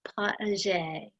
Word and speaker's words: potager: For other people who may always forget how to pronounce the term, it is potager.